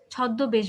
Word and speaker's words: ছদ্মবেশ: ছদ্ম বলি না, ছদ্মবেশ বলি। এটা কেন হলো? কারণ মফলা যখন শব্দের মাঝে বা শেষে যুক্ত হবে, তখন যার সাথে যুক্ত হবে তাকে আমরা দুবার উচ্চারণ করবো।